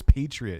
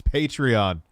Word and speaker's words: Patreon: p he denise's patreon what is patriot it's patreon what's patreon yo adrian